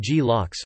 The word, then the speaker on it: glocks: the cache control mechanism, known as GLOCKS, pronounced GLOCKS for GFS2, has an effect across the whole cluster.